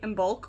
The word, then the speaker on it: Imbolc: everyone welcome back to nest of guidance happy and bulk which is spelled i m as a mother b o